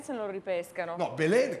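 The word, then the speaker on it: Belén: No, Belen, che poi fra l'altro si pronuncia Belen, ma qui siamo a Genova, si scrive Belin.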